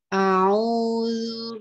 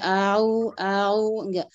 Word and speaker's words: A'udzu: Ini salah satu kekeliruan dalam membaca huruf ain ya. Tidak a'u. Jadi dibedakan, enggak boleh ditasqil ya. Itu namanya ditasqil. A'u. Jadi sendiri-sendiri hurufnya diucapkan ya.